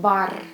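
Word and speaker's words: бар: The combination ba, the final sound will be also R. And how you say it? Okay, you say it bar, bar, which means a bar.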